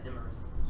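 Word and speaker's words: Iymrith: Oh, there's no actual L in that name. Okay. Ilmarith? Yeah, Ilmarith. Sorry, I've been saying it wrong.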